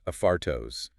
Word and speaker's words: Affartos: Pronounced Aphartos with the stress on the second syllable.